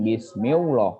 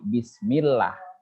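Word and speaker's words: بسم الله: Perhatikan di sini cara membacanya Bismillah. Ya. Di sini hukumnya adalah tarkik. Nanti itu kalian akan paham ya. Bukan Bismillah, tapi Bismillah. Tipis ya.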